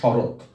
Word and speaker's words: শরৎ: এবং এই খণ্ডত্ব এর উচ্চারণ হবে ত, যেমন শরৎ, শরৎ, শরৎ খণ্ডত্ব বানান লিখলে উচ্চারণ লিখবো শরৎ, তয়ে হসন্ত, এরকম।